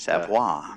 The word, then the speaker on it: Savoy: He'll be followed by Nathaniel Scoggins and then Nick Savoy. Savoy. I knew I'd say it wrong either. That's a different one, Savoie, but Savoy.